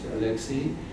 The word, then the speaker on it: Olexiy: Professor, it's my pleasure to introduce you to Professor Haran, this is how you pronounce it, Olexiy, who is a professor of comparative politics at the National University of Kyiv in Mohyla Academy since 2002.